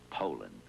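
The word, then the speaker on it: Poulan: wouldn't use anything but a puland. Poland, Ed. Poland. And for over 30 years, they've been mispronouncing our name. Pand. So, we'd like to remind you that our name is Poland.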